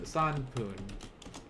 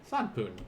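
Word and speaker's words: 三分: second uh yes santoon so again san and then poon so san poon san poon what about for four yon what yon what yon yon poon correct notice the ones with uh that are highlighted are gonna end with like poon there we go now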